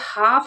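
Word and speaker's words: half: और अगर हाफ आपको लिखा हुआ दिखे तो इसमें एल हमेशा साइलेंट रहेगा।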